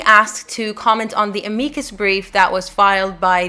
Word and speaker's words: amicus curiae: So an amicus curiae, and yes, it is pronounced amicus in Latin. I know a lot of people refer to it as amicus.